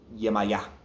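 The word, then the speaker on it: Yemayá: But to pronounce that, Yemaya. Yemaya. Yemaya. Emphasis on the last letter.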